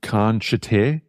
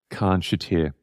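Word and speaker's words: Khan Shatyr: So if you look up The Vampires, and it's featuring Chris Abrahams, and the track is called Khan Shater, which is spelt K-H-A-N-S-H-A-T-Y-R. Khan Shater. Khan Shater.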